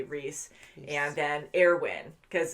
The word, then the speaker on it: Erwin: say rhys and then airwin because it's spelt almost like armin so we've been saying like armin or our win but i think it's air win air win and hunch